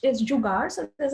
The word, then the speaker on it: Jugaad: Now, the way it's pronounced is Jugaad, so there's like an R, and Tom, you perfectly pronounced it, so I'm so happy. So the word, it's a Hindi word.